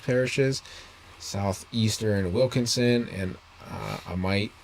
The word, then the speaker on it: Amite: Southeastern Wilkinson and uh Amite or a meat and some people like to say because I've heard people pronounce that one before counties through 4 15